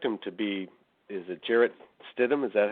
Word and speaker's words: Jarrett Stidham: I expect him to be, is it Jarrett Stidham? Is that how you pronounce his name?